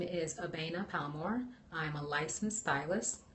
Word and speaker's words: Abena: Abena Palmore is spelled A-B-E-N-A.